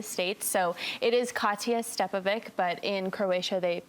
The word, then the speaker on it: Stjepovic: back to the States so it is Katya stepovic but in Croatia they pronounce the last name stiapovic but that's a little too much for us